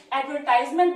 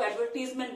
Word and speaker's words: advertisement: American accent में इसको एडवर्टाइजमेंट बोलते हैं और ब्रिटिश एक्सेंट में इसको एडवर्टीजमेंट बोलते हैं, बट हम लोग कुछ भी बोल सकते हैं।